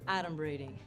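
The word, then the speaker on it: adumbrating: for me but done braiding that's not even a word I go first of all it's pronounced Adam braiding it means pretending foreshadowing hmm guess who's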